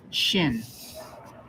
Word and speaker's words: shin: Take close note that the dot is on the right, and this makes the sh sound, shin.